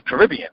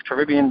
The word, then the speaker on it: Caribbean: And then if you have typical Americans, they say Caribbean, right? So there's Caribbean, there's Karobean.